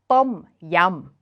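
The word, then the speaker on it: ต้มยำ: In Thai, Tom Yum is pronounced Tom Yum. But how do you write Tom in English with that unaspirated th sound with a short o vowel and then the rising and falling tone of Tom?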